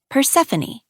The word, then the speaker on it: Persephone: And here's another example using a Greek name from this book, one that looks like telephone, but is pronounced differently. Persephone. PUR-SEH-FOH-NEE. Those two words appear similar, but